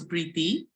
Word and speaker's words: Preeti: It's uh spelled P ree ti but pronounced with a th h sound. So, prii and was German American.